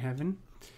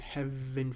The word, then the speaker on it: heaven: one we saw that they they pronounce heaven as a single syllable you will see that in oal poetry uh so keep that in mind but in this particular case he's pronouncing it as two syllable uh so they do